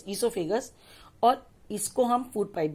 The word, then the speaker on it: oesophagus: ओ silent है इसमें, OESOPHAGUS, ईसोफेगस.